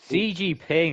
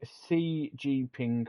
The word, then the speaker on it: Xi Jinping: But I think CG Ping, isn't it? it's Xi Jinping. Cause, ZG Ping, I no, because think. the X is pronounced as a C in Chinese, so it'd be Xi Jinping.